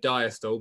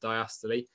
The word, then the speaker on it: diastole: and some of your teachers will call it diastole but it is properly pronounced diastole and there is something called um systole which